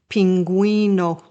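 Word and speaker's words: pingüino: Now listen to the pronunciations of the gu and gui in the example words on the right side that have two dots above the u. You'll notice that the letter U is pronounced in these words.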